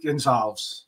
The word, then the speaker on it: Gonsalves: Right, Steve Gonsalves.